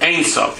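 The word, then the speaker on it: אין סוף: The Ein Sof, is that how you say it? Yeah. In Hebrew, that's Hebrew. Ein Sof, yeah.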